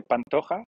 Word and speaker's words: Pantoja: si c'était en espagnol, c'est Pantoja, mais je crois que c'est chez les Brésiliens, donc c'est du portugais, je crois que c'est Pantoja.